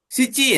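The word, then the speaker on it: 七: dibaca Nana ya S sici ya kalau untuk bulan ya Oh si si y si sama kayak jam bulan sama jam bacanya siici siici Gatsu siciiji gitu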